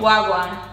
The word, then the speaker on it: Wagwan: Wagwan. Say, you gotta say it like you. Wagwan. Like you love life, like you just swing it.